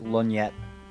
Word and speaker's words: lorgnette: How do you say this? A lorgnet? I guess a lornet? A lorgnette? Hold on, that's IPA. Looks like lorgnette. Lorgnette. Yeah, I guess. Derived from French.